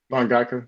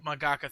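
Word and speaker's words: 漫画家: and not just a manga manga, I can't pronounce that right. Mangaka. Mangaka. Thank you.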